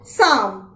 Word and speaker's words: psalm: में एक शब्द है साम, जिसे आप PSALM लिखेंगे। अब यहाँ लिखते समय तो P लिखा जाएगा, लेकिन अगर हम इसे बोलेंगे तो P साइलेंट रहेगा और हम केवल साम शब्द बोलेंगे।